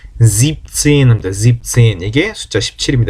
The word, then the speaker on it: siebzehn: 그 다음 17은 siebenzehn이 아니고 여기서는 siebenzehn 발음이 어렵잖아요. 합칠 때는 siebzehn 합니다.